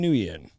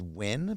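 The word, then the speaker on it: Nguyen: But NG is win.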